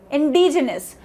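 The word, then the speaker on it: indigenous: important ठीक है D next van इसे इंटिस इंडीजीनस आई एन दी आई जी आई एन ओ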